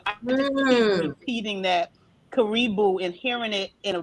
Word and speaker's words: Karibu: I don't want to mispronounce. Help me, Ami. Karibu? Karibu.